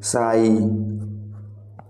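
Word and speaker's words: sigh: ठंडी सांस का मतलब है साई। साई, तो आपका जो साई में जो साइलेंट लेटर है वो है जी। आप जी का यूज नहीं करते हैं साइलेंट लेटर है वो।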